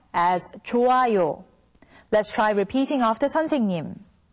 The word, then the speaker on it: 좋아요: When the character hyut meets with iung, the character hyut becomes silent, so it's pronounced as 좋아요.